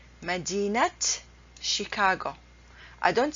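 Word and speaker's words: مدينة: say madinat al O'Hara you don't say Madden al-qahirah the correct way to pronounce it madinat and Kihara then this is Tamar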